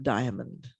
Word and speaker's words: diamond: and i picked up diamond i have the extra syllable and diamond that's my california accent coming through and i